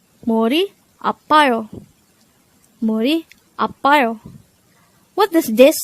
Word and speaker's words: 아파요: Apayo. Apayo. This is pronounced as a three-syllable word. The first syllable is a, the second syllable is pa, the third syllable is yo. Pronounce it with me. Apayo.